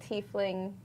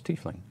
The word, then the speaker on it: tiefling: Oh Thai fling not tiefling tiefling ooh chief Ling would actually be a really fun pun and I thought it was tea fling it is tiefling but they spelled it